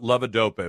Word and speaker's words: levodopa: I want you to tell my audience about levodopa, if I'm saying that right. Yes, you're pronouncing that correctly.